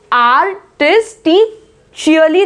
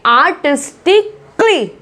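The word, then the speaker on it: artistically: देखिए इन वर्ड्स में, तो आर्टिस्टिशियली नहीं बोलेंगे, आर्टिस्टिकली, आर्टिस्टिकली भी नहीं बोलेंगे, ठीक है, आर्टिस्टिकली नहीं बोलेंगे, आर्टिस्टिशियली नहीं बोलेंगे, आर्टिस्टिकली।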